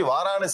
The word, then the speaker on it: Varanasi: the place where Lord shivas are situated actually varanas is the right pronunciation now you write in this language you